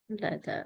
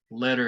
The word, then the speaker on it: letter: Letter. Later. Letter. Uh-huh. And by the way, the TT and the DD are going to sound exactly the same. Letter and letter.